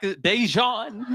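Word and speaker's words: Daegen: His name is spelled D-A-E, which is day. And then it's G-E-N.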